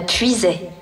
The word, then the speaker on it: Puisaye: en terre de Puiset ça s'écrit puisaille a y e mais vraiment ne le prononcez pas comme ça non la puisit c'est comme ça qu'on dit par ici dans cette région de